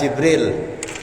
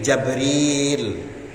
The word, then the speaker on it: Jibril: rasul, menjadi musuhnya malaikat Jibril, bikasril jim, dengan mengkasrohkan huruf jim, jadi membacanya Jibril. Wa fatihiha bila hamzin, ada juga yang membaca huruf jimnya dibaca fathah tanpa huruf hamzah, jadi Jabril.